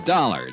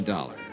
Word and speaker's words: Dollar: It's dollar. Johnny dollar. Dollar. Huh? Yeah. It rhymes with color.